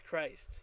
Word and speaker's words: christtt: It's Christ, you know, like Christ. Sure, it's got the 3 T's.